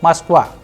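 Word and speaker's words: Москва: So we have masqua. Masqua. It is the capital of Russia also known as Moscow in English. Duska tuska pro and so Moscow is masqua.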